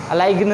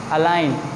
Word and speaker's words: align: This is अलाइन, अलाइगन नहीं, अलाइन, ALIGN, यहाँ पे भी जो जी है वो क्या हो रहा है, यहाँ पे साइलेंट हो रहा है।